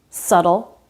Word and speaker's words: subtle: There's another case where the B is silent. When it comes before a T. Debt, subtle, doubt. No B sound in any of these words.